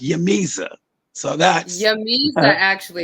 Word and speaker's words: J'mezah: later, but it's pronounced Yamiza.